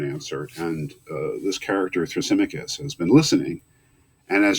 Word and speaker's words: Thrasymachus: speech from another character his name is thrasymachus that's how you pronounce that uh thra sim mick because thrasymachus and he has ideas